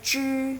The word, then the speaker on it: 只: Jadi bacanya zhi, nada ke 1.